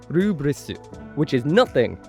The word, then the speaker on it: Lfrith: So I'm going with the pronunciation from the anime, which is Gundam Rubris, which doesn't really reflect what's on the box.